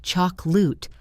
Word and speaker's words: chocolate: Once you accept this, words like chocolate, which sounds like choc-lut, or family, which sounds like fam-ly, will start making much more sense to your ears.